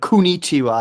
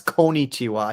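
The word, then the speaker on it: こんにちは: He said Kunichiwa. It's Konichiwa. He said it wrong. Konnichiwa, Nihon. He said it pretty wrong. He said Kunichiwa. It's Konichiwa. Right? Like coexist or co-op.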